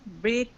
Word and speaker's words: break: excuse me H yes we pronounce break do break through break through so the the GH is not pronounced at all this is not pronounced